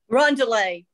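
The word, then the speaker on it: roundelay: nubile girls sing a round delay run delay that's the right way to say it run delay okay uh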